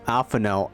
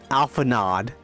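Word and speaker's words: Alphinaud: ] game I swear took me forever to call Alf alphano alph that rather than I kept calling him Alpha nod for the longest time it's terrible how am I supposed to know French doesn't pronounce the d at the end I am French my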